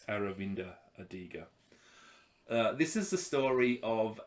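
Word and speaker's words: Aravind Adiga: read this one uh avinda adiga is that how it's pronounced close aravinda adiga this is the story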